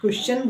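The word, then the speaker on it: question: वो चक होती है क्वेश्चन ठीक है ना बहुत से बच्चे गलत प्रोनंसिएशन गलत उच्चारण करते हैं यहां पर टी की जो साउंड है व चक की होती है क्वेश्चन बोला जाता है नेक्स्ट एग्जांपल है आपका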